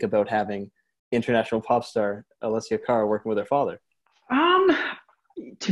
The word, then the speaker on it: Alessia Cara: the outstanding person whose name I hope I pronounce right, Alessia Cara. Yeah, Alessia Cara.